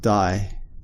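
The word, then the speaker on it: 第: at some of these kanji this kanji is pronounced die and it's an ordinal marker so it's equivalent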